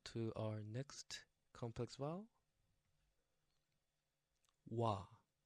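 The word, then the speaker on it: 와: Wa. Wa. From the word want, wa. And yes, also this is the combination of O plus A becomes wa.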